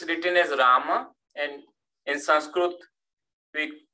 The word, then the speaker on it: Ram: So even though it's written as Rama, and in Sanskrit we pronounce as Rama, the way in Hindi it works, we don't pronounce the last akara.